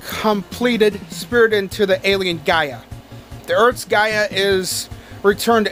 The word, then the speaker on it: Gaia: no wait my bad it's not gala it's fucking gaia i don't know how